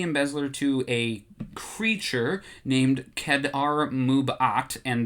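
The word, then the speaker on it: Kad'ar Mub'at: Boba Fett takes the embezzler to a creature named Kedar Mubat, and that's how I have to say it because it's spelled K-A-D apostrophe A-R M-U-B apostrophe A-T.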